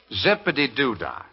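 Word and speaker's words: Zip-a-Dee-Doo-Dah: Zippity-doo-dah.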